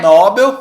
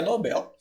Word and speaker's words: Nobel: igual o prêmio Nobel prêmio Nobel né todo mundo fala nóbio mas agora você sabe que é Nobel Muito obrigado Rose é